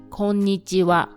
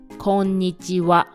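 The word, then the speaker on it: こんにちは: Another example is the greeting "konnichiwa." Even though it is written as "konnichiha," it is pronounced "konnichiwa."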